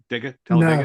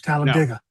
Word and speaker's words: Talladega: Did I say it right? Dega Talladega? No, it's Talladega.